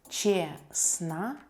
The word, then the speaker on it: честно: Честно. Честно. Adverb honestly. We don't pronounce the letter T here.